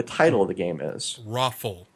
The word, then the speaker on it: ROFL: I'm pronouncing it the way that I was told it's to be pronounced, which is Roffle, actually spelled out, but yes, ROFL.